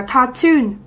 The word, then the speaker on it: cartoon: Ở đáp án B thì mặc dù đây là danh từ, nhưng trọng âm lại rơi vào âm tiết thứ hai, chúng ta sẽ đọc từ này là cartoon, đúng không ạ?